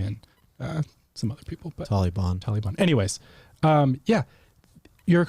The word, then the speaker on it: Taliban: about how you pronounce Taliban is it Taliban is how Americans say it but apparently the correct way is Taliban Brandon from our our team corrected us this morning but is that